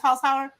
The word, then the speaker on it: Holzhauer: Holzhauer?